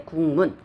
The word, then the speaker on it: 국문: 국문학 할 때 국문 하게 되면 지금 기역으로 발음이 되고요. 그리고 미음, 비음이 왔죠. 그럼 이 비음이 얘한테 영향을 주게 되는 거예요. 그래서 기역은 뭘로 변환됐죠? 이응으로 변환됐죠. 그래서 국문 이렇게 발음이 된다는 것입니다.